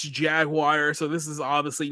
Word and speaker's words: Jaguar: guys remember so I I know European people think it's Jaguar it's jaguar in America that's how we pronounce it but I'm pretty